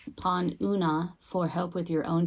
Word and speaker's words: Oonagh: About Unag. It's pronounced Una.